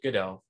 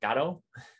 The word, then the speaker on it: Godot: game framework called godot the people who develop godot call it pronounce it good o if you were to go watch the play in england they call it they pronounce it gato which is the play